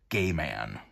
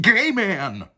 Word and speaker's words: Gaiman: at me that you pronounce his name Neil gay man it's pronounced gay man I'm like whoa just chill out I just